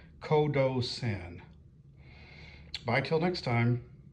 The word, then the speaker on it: Qodosen: In both cases, it's K. So I think the P correct pronunciation is Kodo Sen.